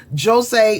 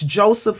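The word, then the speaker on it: José: It's likely Jose because he's Portuguese. He was Portuguese, and I know with Brazilian Portuguese, dealing with Brazilian students, the J, they pronounce it J. Unlike in Spanish, you have the same spelled name. It's Joseph in English, but they say Jose, the Spanish pronunciation, whereas Portuguese, or at least Brazilian Portuguese people, say they say Jose, and it's Jose Saramago.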